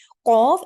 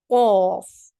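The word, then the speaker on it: قاف: Say it, qaf. Pronounce the qaf by lifting the back of your tongue a bit more upwards towards the upper palate.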